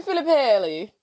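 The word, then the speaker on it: Filippelli: my name is Karen filipelli Karen belly from the office yeah why' you say it like that because she's Italian on the show she supposed to be Italian that's in reality she's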